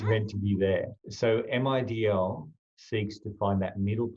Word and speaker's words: MIDL: If you pronounce MIDL, it sounds like middle, and it's pointing towards the middle way.